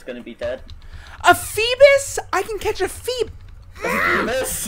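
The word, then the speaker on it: Feebas: A Phoebus? I can catch a Phoebus? No! That's how you say it. It's Phoebass. You call it Phoebus? Well, there's not two S's, so why would you call it Phoebass?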